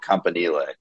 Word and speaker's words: Campanile: With now interim coach, immaculately named, interim coach Nunzio Campanile, which you have to pronounce like you're Italian. You can only do it that way.